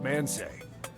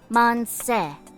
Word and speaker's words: Manseju: What's man say? I think it's pronounced more like Monse. Monsa.